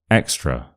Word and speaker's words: extra: that later extra extra extra so extra uh the schwa sound at the end and this shows you that the schwah doesn't actually have to be at the start of a word can be at the